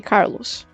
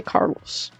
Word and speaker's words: Carlos: It's like trying to say Carlos. When I try to, I need to, like, put active effort in saying it right because my brain is already on English mode, you know? And English mode tries to say Carlos. It tries to, like, roll the L's more than they should be rolled.